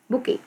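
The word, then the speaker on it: bouquet: बी ओ यू क यू ई टी बुके okay यहां पे टी साइलेंट हो गया।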